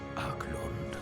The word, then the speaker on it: Archaelund: A land called Arklond. Good to know I've been pronouncing it wrong the whole time.